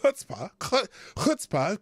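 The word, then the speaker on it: chutzpah: run a mck hello speaking of hpah and I pronounced it right because I knew my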